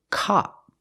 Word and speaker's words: cop: And the second word is cop. It's more open, cop, like hot and stop, cop.